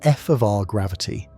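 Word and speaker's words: f(R) gravity: This is pronounced f of r gravity.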